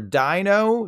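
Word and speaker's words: Deino: They're based on the German words for 1, 2, and 3, because 1 head, 2 heads, 3 heads, you get it. Which means the correct pronunciations are Dino, Zweilis, and Hydreigon.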